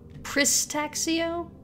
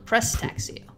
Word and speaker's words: Prestaxio: Pristaxio? No, Prestaxio.